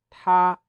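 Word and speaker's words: 他: Es decir, para decir él y ella se pronuncia ta, ta.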